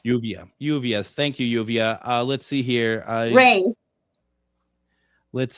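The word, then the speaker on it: Lluvia: I was wondering because the double L is a U, right? I mean, it's not like the U sound, right? L-L-U-V-A is Uvia. Yes. Uvia. Thank you, Uvia.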